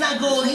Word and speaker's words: Nagari: Tulisannya lain Nagari, Nagari, tapi bacanya Nagori deh.